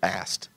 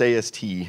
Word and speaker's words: AST: And yeah, some people actually pronounced it AST. I used to get phone calls, people say, is this AST computer? No, it's AST.